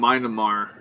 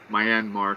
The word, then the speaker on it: Myanmar: That's uh Well, we're going to touch on uh the update from Myammar. Um Myanmar, sorry.